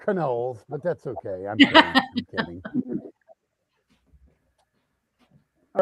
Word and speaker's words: Knowles: So, it's actually pronounced Knowles, but that's okay.